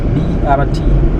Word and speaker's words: BRT: You are saying it wrong. It is BRT. Oh, BRT. I'm told I'm saying transit. Bus rapid transit. Oh, so it's not Brit.